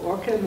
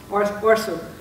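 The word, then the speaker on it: Orcem: Vallejo is facing the prospect of a cement factory called Orkem or Orsem, and hard C or soft C? Soft C. Orsem, which, again, it's very similar to the Pittsburgh story or the Oakland story.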